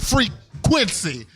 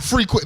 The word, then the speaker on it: Frequency: your DJ name frequency I gotta say it like that frequency all right you got to make sure you get your accents right I'm here with my man DJ freak Quincy not frequent there's your name Quincy